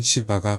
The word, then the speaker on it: 시바: 되었 예매 남부에 위치한 시바 왕국에 대해 전혀 모르시는 분들을 위해 간단히 설명해 보겠습니다 시바라 발음은 현대 우리가 통증으로 부르는 것이고 원래 발음은 사바 혹은 세바 니다만 그냥 간편하게 시바로 계속 불겠습니다 시바 왕국은 아라비아 반도의